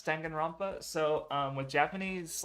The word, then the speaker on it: Danganronpa: So da, and then with an n ending, because that's its own kana, basically the single n, and it's the only